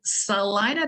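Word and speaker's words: Celina: with Salina Salina and some people mispronounce it but as a Texan and a native Texan I would say it's definitely called Salina Texas and Salina is the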